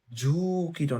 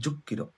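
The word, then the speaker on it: 十キロ: এবার 10টা হচ্ছে কি জু কিরো না হয় জুক কিরো, 100টা হচ্ছে হিয়াক কিরো, মানে 100 কিলোমিটার, ঠিক আছে।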